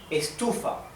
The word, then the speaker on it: estufa: Estufa. The sílaba tónica is tu. Estufa, because the accent, the stress is in the second syllable.